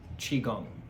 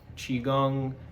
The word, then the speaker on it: Qigong: on the ancient and contemporary healing art of Qigong. How we pronounce it, what it means, and how we can use it.